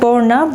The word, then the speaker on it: Berna: Berna Benim adım İran'da borna Bunun sebebi telaffuz farkı yani Berna'nın gerçek telaffuzu Farsçada borna demek Çünkü Farsça bir isim